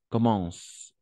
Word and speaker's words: commencent: fois encore ses aventures commencent en général on ne prononce jamais on ne prononce jamais ent à la fin donc commence voilà pour le reste